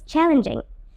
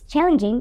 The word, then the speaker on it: challenging: Please pay attention to the G sound in challenging. It's pronounced as J, challenging. Hear carefully. Challenging. Challenging.